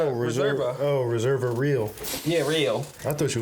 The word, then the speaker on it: Reserva Real: Did you say Reserva Rear? No, I said Reserva. Oh, Reserva Real. Yeah, Real. I thought you was mispronouncing so, reservoir.